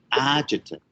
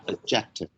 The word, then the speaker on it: adjective: 形容词, okay, you should read like this way: adjective, not adjective. Okay, say it again. Adjective. Yeah, adjective. Adjective. Yeah, adjective. adverb. Okay? So the stress syllables begin in the first syllable.